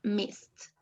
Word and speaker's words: missed: i missed uh with this word miss when it's in past the e is not pronounced okay so i missed nice thank you juan